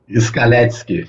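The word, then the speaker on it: Scaletsky: É assim, Scaletsk é polonês.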